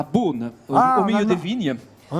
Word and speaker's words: Beaune: C'est à Beaune, au milieu des vignes.